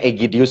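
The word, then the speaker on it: Aegidius: Jadi cara membaca yang benar sebenarnya huruf A paling depan itu nggak usah ikut dibaca. Jadi cukup membacanya Egidius gitu. Itu pelafalan yang benar begitu ya.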